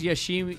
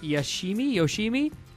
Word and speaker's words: Yoshimi: This is Yoshimi. Yoshima. You just said it. Yeah, but you said you wrote down Yoshimi. Yeah, that's how you spell it, but that's not how you say it.